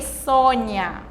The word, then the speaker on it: Sônia: acontece em 3 oi sônia olha só palavra sônia nome de pessoa tem uol um pouco mais fechado né percebam aí quando